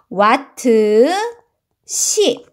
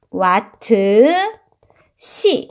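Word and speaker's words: 와트시: 시라고 읽어 주시면 됩니다 따라서 전력량의 단위는 뭘로 사용하냐 와트 C 와트 C 이렇게 읽어요 만약에 그 값이 크면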